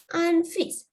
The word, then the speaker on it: un fils: Child, un enfant, baby, un bébé, twins, des jumelles, some unfis. Remember, you have to pronounce this. It's my anti-message pronounce කරන්න ඕනේ. So, unfis, F-I-L-S.